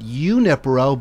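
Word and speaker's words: Junípero: This evening at the Pacific Grove Community Room, 515, I say Junipero. Carmelita said Unipero, but she would probably know better than I. I always thought that J was a who, but maybe I'm saying it wrong.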